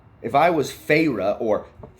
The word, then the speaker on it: Feyre: If I was Feyre, or Feyre, because every single time someone said her name